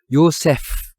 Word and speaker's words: 요셒: 요새 비라고 비율을 쓰지만 실제로 발음은 맨 끝에 가 영어 f 발음이 그 요새 라고 해야 되요 사실 그러나 우리가 표기할